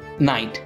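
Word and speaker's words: night: টি লাইট হয়ে গেল এ মতো নাইট এন আই জি এইচ টি তো এটাকে শুধু যদি আমরা এন আই টি যদি লিখে দিই তবুও আমাদের নাইট উচ্চারণ হয়ে গেল তো জি এইচ এর উচ্চারণটা আসলো না এ মতো ফাইট এ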